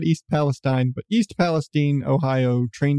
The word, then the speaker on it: East Palestine: yeah if you don't know about the East Palestine Ohio and I've learned it is pronounced Palestine not East Palestine but East Palestine Ohio train derailment where Trains